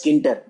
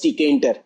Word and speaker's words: Tkinter: You can pronounce it as Tkinter, but I used to pronounce it as Tkinter.